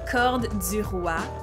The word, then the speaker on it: corduroy: Also, corduroy. It's actually pronounced corde du roi, which means cord of the king, if you didn't know.